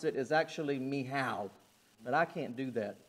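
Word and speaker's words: Michal: this name Michelle okay now I've heard of pronounced Michelle I've heard it pronounced Michael they're both wrong uh the way you pronounce it is actually miow but I can't do that all day okay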